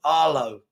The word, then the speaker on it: Arlo: uh uh H my my name is pronounced Aro Arlo got it thank you